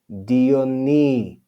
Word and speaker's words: Dionysius: Hieronymus, and Dionysius. So you see, we pronounce that letter upsilon with the sound E when we see it in speech.